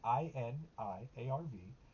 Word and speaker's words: Iniarv: That's how it's pronounced. Huh? I don't know how that's pronounced either. It's Iniarv. Iniarv is what I would say.